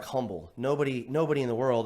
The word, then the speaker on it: Humble: it just looks like humble nobody nobody in the world other than you know and hump in Humble Texas knows that that H is not pronounced right right so it's